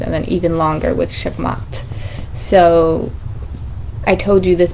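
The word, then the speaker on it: Shamgar: And then we had Shamgat. I feel like it's said like that, Shamat. You don't really pronounce the G.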